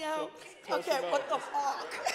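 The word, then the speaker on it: Fach: Did I pronounce it correctly? Close. Oh, F-A-C-H. Okay, what's the correct pronunciation? Fuck. What the fuck?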